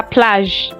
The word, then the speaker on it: plage: Beach is la plage. La plage is spelled la and plage, Plage.